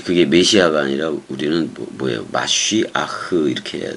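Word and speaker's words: מָשִׁיחַ: 마쉬아흐 이렇게 해야 돼. 그 메시아로 음역을 했기 때문에 원 발음이 마쉬아흐지만 뭐 메시아로 그냥 해야지 뭐 어떻게 할 거예요.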